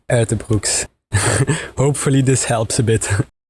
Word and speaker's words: Uijtdebroeks: of journalists and fans here is the pronunciation of my name Keon ER Brooks hopefully this helps a